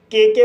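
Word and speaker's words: cooked: कुक कु शब्द में के के बाद ई डी जोड़ा गया है। इसलिए डी का उच्चारण ट होगा। इसलिए इसे कुक पढ़ा जाता है।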